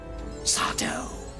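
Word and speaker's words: Sardo: They call me Sato. No, mister. Accent on the dough.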